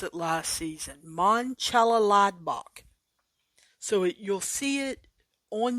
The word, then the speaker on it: Mönchengladbach: It is Mönchengladbach, I believe, is how they informed me to pronounce it last season. Mönchengladbach.